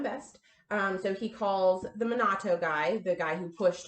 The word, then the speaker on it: Minato: And Hiroshi Mayano and another boy named Nabaharu Minato, is that how you pronounce his name? Minato, yes.